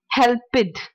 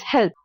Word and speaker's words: helped: at some common mistakes saying help it it's not help it it's helped walk did not walk